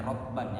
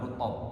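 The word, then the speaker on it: رطبا: jinisna emotban Halna basuh itu dibacanya rotban ya, bukan rutab.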